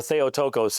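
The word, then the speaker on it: Theotokos: Um, notorious rejected the term theaticos or theotocos if you use modern Greek pronunciation, the godbearer or as it comes across in English, mother of God.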